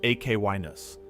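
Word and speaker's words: Echinus: Ekinus, pronounced Akinus, is not one of the geysers that appears in most Yellowstone tourist photography.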